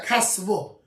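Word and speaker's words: קסוה: The Mishnah says Hagoynev is a kosva or a kasve. It's like not 100% clear, the exact lashon of what it is, but how you say it, it's actually a kasvo.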